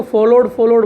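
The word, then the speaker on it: followed: और देखिए इसको फॉलोड बोलते हैं बहुत से बच्चे, डब्ल्यू यहाँ पे भी साइलेंट है तो फॉलोड होगा।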